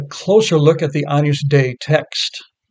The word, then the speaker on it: Dei: For example, Agnus Dei goes to the first syllable of Dei.